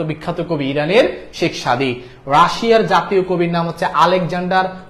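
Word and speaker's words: Russia: Pushkin Alexander Pushkin হচ্ছেন রাশিয়ার জাতীয় কবি আলেকজান্ডার কি পুশকিন রাশার জাতীয় কবি উচ্চারণটা রাশিয়া না উচ্চারণটা রাশা এই যে আমরা যেভাবে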